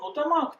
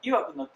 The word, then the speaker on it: 曰く: Some Japanese pronounce the word ‘曰く’ as ‘のたまわく’ but in a school textbook, it is pronounced as ‘いわく’ so we also use the latter.